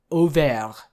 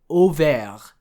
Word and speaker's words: Auvers: this should be pronounced Auvergne. Auvergne. The AU in French is pronounced like an O, and the S at the end is silent, and I believe I've talked about that R sound before.